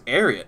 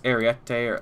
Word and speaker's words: Ariete: Well, that's gonna do it for the M26 Ariat. I'm still probably pronouncing that wrong. It's Ariete, or it's Italian is odd, and I'm American. I butcher things.